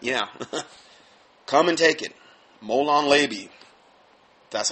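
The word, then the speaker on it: molon labe: talk about that yeah come and take it molan leby that's how you say it anyway according to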